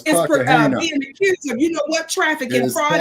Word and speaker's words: Cartagena: It says Joseph Fat Joe Cartagena. Is that how you pronounce his name, y'all? No, it's Cartagena.